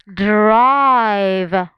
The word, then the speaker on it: drive: is vowel consonant e so if it's vowel consonant e remember e is silent and the vowel takes